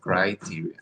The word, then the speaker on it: criteria: What was the pronunciation? Criteria. Criteria. Criteria. Yes, criteria. Add this to your pronunciation vocabulary.